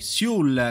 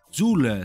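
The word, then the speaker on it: Süle: Zul si dice. Ma veramente, raga? No, vabbè. Zul, ragazzi, a quanto pare è Zul. Non è né Siul né Sule, è Zul.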